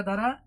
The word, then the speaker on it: the: এখানে আপেল যে ইংরেজি শব্দটা, এটার প্রথম অক্ষর এ হলো ভাওয়েল, আর শব্দের প্রথম অক্ষর ভাওয়েল হলে THE এই শব্দটার উচ্চারণ হবে দি, অর্থাৎ আই ওয়ান্ট দি আপেল।